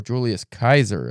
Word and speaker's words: Julius Caesar: I am reading Julius Caesar or Julius Kaiser as it's actually pronounced uh by one William Shakespeare right now.